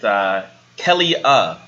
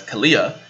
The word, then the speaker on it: Kelia: I'm your host, and I'm here with Kelia, not to be pronounced as Kalia, also known as BLM